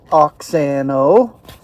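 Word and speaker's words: αὐξάνω: So this word grow the Greek is oxano and I will show it and I pronounce it oxano the English element it's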